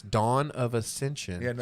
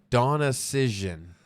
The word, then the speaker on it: Dawn of Ascension: out and interview US she mispronounced our name and what'd she say so it's dawn of Ascension she said Donna cision Donna cision Donna decision and